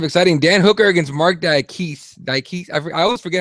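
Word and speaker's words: Diakiese: Dan Hooker against Mark Diakise. I always forget how to say his last name. Diakise, thank you.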